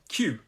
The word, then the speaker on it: queue: about this word is the way it's written it's q u e u e so it looks like q u u but we say q um so that's that's